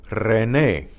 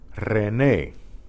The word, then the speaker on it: René: Okay, the initial R is trilled. Try these syllables. Ri, re, ra, ro. And they have some names here. These are common names in Spanish. Rafael, Rafael. Raúl, Raúl. René, René.